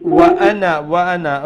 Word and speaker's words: وأنا: وأنا. Okay, Shahida, here وأنا we will pronounce it with a short sound, okay?